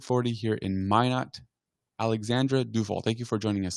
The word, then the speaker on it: Deufel: your name right well my last name is pronounced doel but nobody nobody ever knows that I never